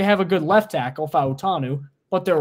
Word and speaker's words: Fautanu: just talking about Troy Fatanu. Day two. Excuse me, Troy Fatanu. I got to correct myself now, especially as a guy who gets a little granular about pronouncing people's names right, Fautanu.